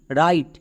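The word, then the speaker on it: write: দেখে বুঝতে পারলাম যে এখানে ডব সাইলেন্ট এর উচ্চারণ করতে হবে না বোঝা গেল তাহলে নিয়ম কি খুবই সিম্পল নিয়ম ডবউর পরে যদি আর থাকে ডবলিউ সাইলেন্ট তাহলে এখানে আমরা আর থেকে উচ্চারণ করব আর এর জন্য রো আই আই এখানে বেসিভ রুলে আছে তাই আই এর জন্য আই এবং টি এর জন্য টো শেষের ই সাইলেন্ট তাহলে এর উচ্চারণ কি হল ডবলিউ আর আই টি ই রাইট আমরা যদি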